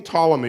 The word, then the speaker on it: Ptolemy: name he would say p is in psychiatrist so we're going to call them King tall I mean we'll just swallow the pig King Ptolemy wanted to translate the